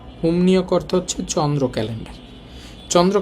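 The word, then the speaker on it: 음력: মিউমের পর রিউল আছে মিউমের পর যেহেতু রিউল আছে রিউলটাও তো এখানে ন হবে তাহলে উচ্চারণ হবে ওমনিয়ক ইয়াং নিয়ক সৌর ক্যালেন্ডার আর উমনিয়ক উমনিয়ক অর্থ হচ্ছে চন্দ্র ক্যালেন্ডার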